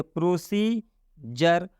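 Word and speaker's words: procedure: अब इसको एक साथ यदि हम पढ़ते हैं तो पढ़ेंगे जर, इसको एक साथ पढ़ेंगे तो हो जाएगा ये क्या पढ़ेंगे, प्रोसीजर।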